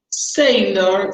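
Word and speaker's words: Saylor: Quienes opinaban de una forma distinta se llamaban Sailor. Sailor se escribe S-A-Y-L-O-R, Sailor.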